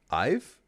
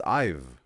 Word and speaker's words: Ivy: Ive? Like I've? Because if I don't pronounce the E, it's just I've, right?